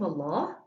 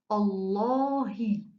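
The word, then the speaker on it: الله: the noun of allah i have to pronounce the name of allah thick and heavy every so here i said allah which is thick and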